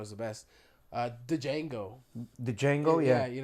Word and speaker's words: Django: the best uh the Django the Django yeah yeah you know you watch Jango it says it has a d there um D Jango the D is silent and he tells yeah